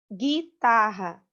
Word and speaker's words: guitarra: Guitarra. Você não tem o som do U.